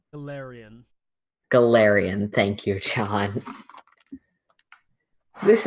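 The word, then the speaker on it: Golarion: Okay, hey, so since I've played Smash Bros, the only way I can read the name of this setting is Galeem, and I know that's wrong. Galarian.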